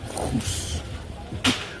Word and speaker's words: Goes: Welcome to Hoos. If Kimberly's watching, she knows how to pronounce that. She's got a sore throat as well, so it helps when you need to pronounce Dutch words in English.